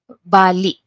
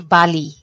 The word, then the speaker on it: bali: We have the, how do you say, the glottal stop at the vowel E, letter I, vowel I. Bali. Bali. You don't say Bali. Bali is like the, Indonesia, Bali, Indonesia. Bali. Bali.